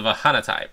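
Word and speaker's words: Vahnatai: On the Vahanatai, pronounced Vahanatai, are a very interesting race.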